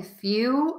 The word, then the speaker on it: few: understanding are you saying few are you saying fuel be sure to hold that l a little bit longer make that sound longer and stronger and that's really going to help you so again the words are